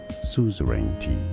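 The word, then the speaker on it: suzerainty: Suzaranti how to pronounce break it down. Soup based on the f suzarenti.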